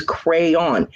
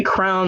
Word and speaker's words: crayon: The correct pronunciation of crayon is crayon. It's how it's spelled. But people say crown, they say crayon, they say, Issa is from Maryland, and she would say crown.